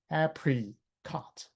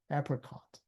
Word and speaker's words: apricot: Another one is like apricot. apricot or you maybe you say apricot but you don't say apprecott you don't say apricot you say apricot a p r i that i becomes awah so awah can come